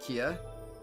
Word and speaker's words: Kia: We were given this car to use for work, Kia. How do they pronounce your name again? Yeah, they pronounce it exactly like the car brand, actually.